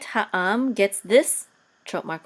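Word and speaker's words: העם: a kamatz and the mem sofit together says ha'am, the people, and they shall judge the people. Okay, and et ha'am gets this trope mark right here, which is tipcha.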